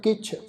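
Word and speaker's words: ਕਿਛੁ: रूप न रेख न रंग किछ, इनू कच्छ नहीं उच्चारण करना, कक्के नूं सियारी लगी हुई है, इत्थे पाठ उच्चारण करांगे जी किछ।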